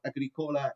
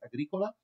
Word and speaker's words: Agricola: So it's not Agricola, it's Agricola.